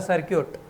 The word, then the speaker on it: circuit: अगर सर्किट को शुद्ध रूप में बोलते हैं तो इसे बोलता है सर्क्यूट। ओके, तो नॉट होटल, किसी को भी नहीं उच्चारण कर पाते, सिर्फ साउथ इंडियन ही अच्छा बोलते हैं इसको।